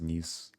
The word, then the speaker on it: Nice: I know it's pronounced Nice, but it's also sounds like nice.